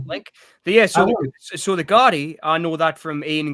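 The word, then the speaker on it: Gardaí: Um but it's pronounced the Guardi. Gardi.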